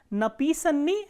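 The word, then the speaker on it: написанный: For example, here as you can see, napisanni has stress on e. The same way in all the short forms, the stress is on e only.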